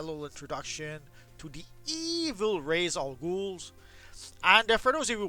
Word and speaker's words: Ra's al Ghul: It's a play of words that Denny O'Neil came up with when he created the character, Ra's al Ghul. As in, raising all the ghouls, an obvious reference to the Lazarus Pits.